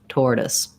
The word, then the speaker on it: tortoise: so it sounds like And then the SE on this word says the S sound. Often SE will say the Z sound, but not in this word. So first syllable stress, tortoise, tortoise.